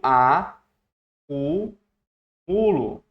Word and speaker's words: acumulo: Quando eu pronuncio a crítica, ó olha a palavra a sílaba forte. Crítica. Crítica. Outra é acúmulo. Eu, ó, eu a cu mulo.